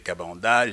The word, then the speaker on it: Kabanda: suit docteur euh ben mon nom vous l'avez prononcé donc moi c'est cabanda je suis médecin d'information je suis dans l'UDPS